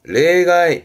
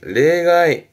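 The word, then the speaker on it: 例外: 그러니까 실제 예를 들어 할 때 실례를 쓰니까 발음 또한 지쓰레, 지쓰레, 실제 예에, 지쓰레, 예외군요. 레가이, 레가이.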